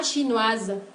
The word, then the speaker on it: chinoise: Verán que al pronunciar el femenino de las nacionalidades ici, se hace presente el sonido consonántico Z, ese que apareció anteriormente. Oui. Alors, entre la S y dos vocales.